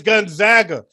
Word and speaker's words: Gonzaga: they were and nobody even knew how to pronounce it they had to the coach had to come on and say it's it's gonzaga that's why they started calling themselves the zags